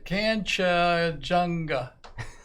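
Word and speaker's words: Kanchenjunga: Oh, Kanchajunga.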